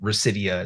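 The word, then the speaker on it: Rhysida: Vice Society, which is believed to have moved mostly to, I'll pronounce it Residia is how I pronounce the new name of the crew.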